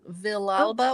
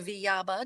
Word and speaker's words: Villalba: We got a nice comment from LinkedIn from Shannon Villalba or Villaba, depending on if you're pronouncing it in Spanish or English, who said, "You have so many great programs at the Taft."